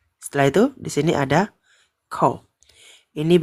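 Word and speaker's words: 口: Kou ini bacanya kou.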